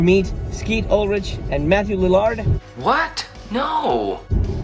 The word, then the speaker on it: Lillard: skeet ulrich and matthew lillard what no i know it's lillard but i'd like that the large lilard i like to pronounce that it's funny but matthew